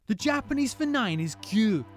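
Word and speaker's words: 九: Japanese four nine is cue cue sounds like the first part of the word cube the giant boy has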